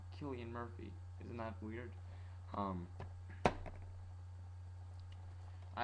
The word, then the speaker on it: Killian: It's not pronounced Cillian, it's pronounced Killian. Killian Murphy.